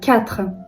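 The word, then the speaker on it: quatre: Sona doğru bir nefes verdiğimiz için böyle ı ile ı arası bir ses çıkıyor. Cat bu şekilde.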